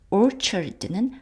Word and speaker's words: orchard: 그 orchard는 과수원입니다. 취 발음이고요.